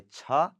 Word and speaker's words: छ: चा के बाद आता है छ, छ, छ.